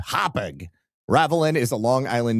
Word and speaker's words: Hauppauge: Okay, Hauppauge is pronounced Hauppauge.